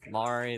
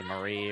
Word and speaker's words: Mari: I mean people pronounce my name wrong all the time. Mari they'll say Marie or something. Mary I've heard that one before.